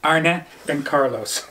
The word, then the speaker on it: Arne and Carlos: Arne and Carlos.